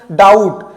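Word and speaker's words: doubt: यदि बी के बाद टी हो। बी के बाद टी आता है दो। बी साइलेंट रहता है। क्या हो जाएगा ये? डाउट।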